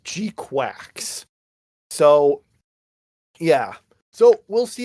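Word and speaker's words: GQuuuuuuX: It is a G Q followed by six U's and then an X. I think the way it's supposed to be pronounced is Gqu Quacks.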